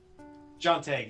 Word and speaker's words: Shantae: mighty switch force and shantae is that how you say it jonte yeah yeah the the genie hero